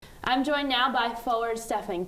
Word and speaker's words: Stefan: People would call me Stefan, which is not correct. I'm Stefan, and it's also.